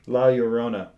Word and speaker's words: La Llorona: the nun the curse of Matt help me pronounce it uh ah wow your Rona yes there you go la Llorona and then the nun 2 which is coming